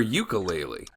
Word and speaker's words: ukulele: Wait, do you pronounce it ukulele or ukulele?